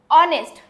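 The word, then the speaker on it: honest: आहे आता काय आहे इथं ऑनेस्ट ठीक आहे बघा हा यश तुमचा साइलेंट आहे ऑनेस्ट होईल ठीक आहे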